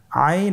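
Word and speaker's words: عين: আইন হরফটি উচ্চারণের সময় অবশ্যই তিন আলিফ টেনে পড়তে হবে। এখন আইন হরফটি বারিক হরফ। পাতলা করে পড়তে হবে।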